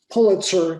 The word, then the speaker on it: Pulitzer: the south end of pulitzer corridor betsy taught me how to pronounce that word correctly like the chicken of the thousands of